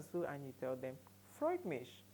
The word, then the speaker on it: freut mich: you how to say please to meet you freut mich let's take it together freut mich freut mich freut mich pronounce with me pronounce alongside Freud's mich Freud's